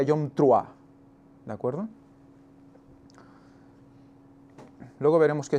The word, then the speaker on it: Yom Teruah: Antes de nada, recordar que en hebreo es Yom Teruah, el día de la fiesta de las trompetas, le llaman, o la traducción o la pronunciación correcta sería Yom Truah, ¿de acuerdo?